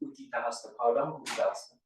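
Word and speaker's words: Utthita Hasta Padangusthasana: the seat, because we're going to come into Uttita Hasta Padangusthasana, which is the right pronunciation.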